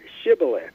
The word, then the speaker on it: shibboleth: love yourself hey Luce is a modern day Shibboleth did I get that right you did and